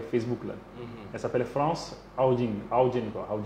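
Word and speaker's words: Haugen: Elle s'appelle France Haoudjin quoi. Son nom est difficile à prononcer, c'est France avec S à la fin. Et Haoudjin, H-A-U-G-E-N.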